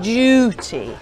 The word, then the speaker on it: duty: look at duty now British English is duty whereas Americans would flatten that to make it Doody Doody so also you can